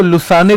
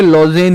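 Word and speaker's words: Lausanne: कोई इसको लुसाने लिख रहा है, कोई इसको लॉजेन लिख रहा है। वैसे ये अंग्रेजी का नाम है, तो ये लुसाने ना होके लॉजेन ही ज्यादा होगा, क्योंकि अंग्रेज ऐसे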